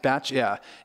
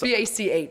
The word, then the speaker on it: Bach: It's spelled like box, so I don't know why we should know it's Batch without the T. But, okay, you know. So it's Batch. In your defense, yeah, it's B-A-C-H.